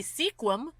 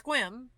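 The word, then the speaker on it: Sequim: then you get to what should be sequin but now it's quim and I'm like well there's a e between the s and the Q and they're like we don't care we drop it it's swim okay anyway so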